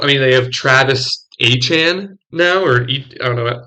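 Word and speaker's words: Achane: I mean, they have Travis Achan now, I don't know how to. He apparently said his last name is pronounced Achan now, so we have two Achans.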